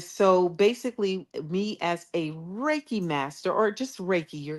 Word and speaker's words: Reiki: you correct me she did some type of Reiki yes Reiki uhuh I'm a raiki master as